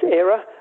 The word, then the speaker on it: Era: Ira into exterminatrix yeah her name's AA I mean it is spelled IRA and some people in Belgium call her that but it's AA because the film was originally called the end of an era we like that title